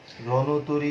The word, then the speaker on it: রণতরী: এর উচ্চারণ হচ্ছে না, কিন্তু যখন তুমি বলবে রণতরী, রণতরী যখন বলবে তখন কিন্তু এই রণতরী অ এর উচ্চারণটি ওকারান্ত হয়ে যাবে।